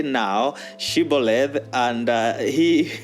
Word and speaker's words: Shibboleth: So they would tell them to say the word Shibboleth. And it is said that the Ephraimites could not pronounce Shibboleth. They would say Siboleth, Siboleth, without she.